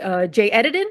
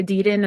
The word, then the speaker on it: Edidin: And Jay Edidin, is that how it's pronounced, Ian? Yeah. Okay, because I know some people say Edidin and I've heard that's wrong, so Edidin.